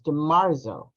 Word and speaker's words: DeMarzo: DeMarzo, I think I pronounced that wrong the first time, it's DeMarzo.